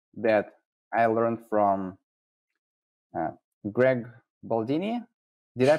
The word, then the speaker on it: Baldini: So here's a trick that I learned from Greg Baldini. Did I pronounce it right? Baldini, yep, that's his name.